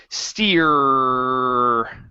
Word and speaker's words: steer: but on the r hold the r sound okay so this is steering stick this this steering stick almost so uh let's take off the I ining okay all I want you to say is steer steer uhhuh good hold it for a little bit longer steer steer there you